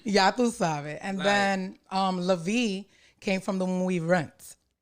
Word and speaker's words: LaVie: Did I pronounce that right? Absolutely. Mm-hmm. Or you could say LaVie. I LaVie.